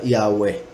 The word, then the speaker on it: Yahweh: Por ende se pronuncia el verbo hayá en tercera persona futuro imperfecto, se pronuncia Yahweh, y eso es el nombre del Todopoderoso, Yahweh.